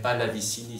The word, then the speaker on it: Pallavicini: et Cavalli, par exemple, prononcé à la française serait Pallavicini, ce que je trouve très bizarre, bon.